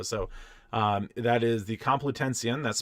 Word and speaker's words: Complutensian: to do so so um that is the complitension that's spelled com PLU t-e-n -s-i-a-n and polyglot is exactly as it sounds p-o-l-o-y g-l-o-t the complitensian polyglot uh sounds like a you have North